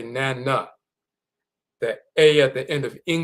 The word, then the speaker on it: nana: This is how it's pronounced. Nana, Nana.